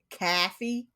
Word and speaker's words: coffee: New York friend, and they always pronounced it Caffey.